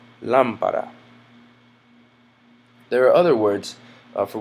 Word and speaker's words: lámpara: Otherwise, it would have a natural stress on this syllable, lámpara, but it is rather lámpara.